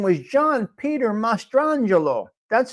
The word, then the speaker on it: Mastrangelo: His birth name was John Peter Mastrangelo. That's how you say it, Mastrangelo.